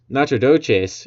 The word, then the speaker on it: Nacogdoches: Nacogdoches in Texas, I believe, is how it's pronounced, and Natchitoches there in Louisiana.